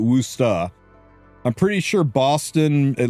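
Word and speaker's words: Worcester: No, you don't pronounce if you're from Massachusetts, you don't pronounce you don't pronounce it Worooster. You pronounce it Worusta.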